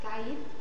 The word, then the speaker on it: caïd: Il faut marquer le consonne à la fin. Je sais que c'est difficile pour nous, pour les hispanophones, parce que la tendance, c'est à faire une prononciation plus détendue, mais il faut le marquer en français.